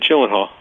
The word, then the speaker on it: Gyllenhaal: Should that did I pronounce it incorrectly? We have a fine system here, I should David, be fined yeah. for that. Yeah. No, you're all right, Gyllenhaal. You're good.